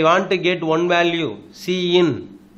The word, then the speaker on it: cin: Predefined identifier called cin. So predefined identifier is the first operand, that is pronounced as Cin. Cin means C input, right?